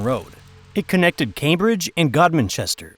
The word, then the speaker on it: Godmanchester: It connected Cambridge and Godmanchester, pronounced locally as Gumpster.